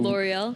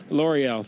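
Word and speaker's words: L'Oréal: sounds believable seven I don't know how to pronounce that brand of shampoo L'oreal L'oreal thank you here sponsored by L'Oreal in the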